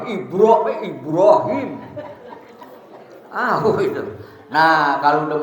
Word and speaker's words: Ibrahim: Ibrahim waa Ali Ibrahim Ibrahim juga kita bacanya ibro Iya jadi enggak itu sebetulnya harus ada Qalqalah kalau BA mati harus qalqolah kan Ya wajib ya bukannya ibro Bagaimana bacanya I Ibrahim tapi IB Ibrahim tahu itu Nah kalau